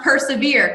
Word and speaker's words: PRSVR: as Miss here as we are or it's pronounced persevere correct yes or persevere for a Hello get